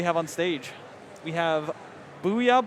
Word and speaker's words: Borceyah: We have Booyah Bomb, spelled like Worcester, Booyah Bomb, right?